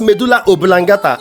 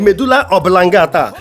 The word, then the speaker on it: medulla oblongata: is making me and I definitely wants to pronounce medulla obilangata and he said medulla oblongata that's why this book is available eat with